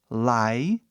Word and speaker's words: like: palavras no inglês outro like o e fica mudo o i Fala seu nome like l i like entendeu